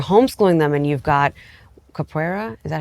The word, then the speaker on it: Capoeira: You're stifling their growth right now, but you're homeschooling them, and you've got Capoeira, is that how you say it?